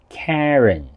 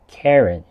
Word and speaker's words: Karen: 咁咧喺英式英文裏面咧，嗰個 A 音會係咁嘅 Karen。咁美式英文或者大部分香港嘅朋友咧就會讀成 Karen。咁我哋今日選擇第二個讀法，因為相對地咧係比較簡單啲嘅 Karen。